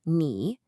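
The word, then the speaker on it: 你: The first character, ni means you. You can see the pinion has that little third tone mark.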